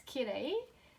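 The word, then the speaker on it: きれい: And so how we pronounce ki re I, yeah, kirei, kirei.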